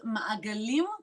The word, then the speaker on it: Maagalim: Yes, let's talk with, are we pronouncing it correctly, first of all, Maagalim? So, and the organization name is Maagalim Community Circles. Maagalim.